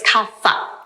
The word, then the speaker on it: kapha: By the way, it's kapha, p h, it's we spell it p h, but we pronounce it kapha in Sanskrit.